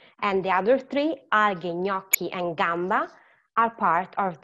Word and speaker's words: gnocchi: And the other three, alghe, gnocchi, and gamba, are part of the suono duro.